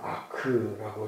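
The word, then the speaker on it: אח: 어느 구약학자는 성경의 그 중심 낱말 이것을 구약 성경의 경우는 형제, 이스라엘 말로는 아크라고 이렇게 발음하는데요.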